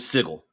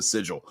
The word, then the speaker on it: Sigil: just went um the city of sigle that they always keep pronouncing which everyone wants to go call it a Sigil uh but yeah it